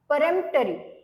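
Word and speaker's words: peremptory: बघूया next word आहे परमटरी okay याच प्रोनान्सशन कसं करायचं आहे परमटरी परमटरी ओके प्रोनन्सिएशन काय आहे याच परेमटरी स्पेलिंग आहे पी इ आर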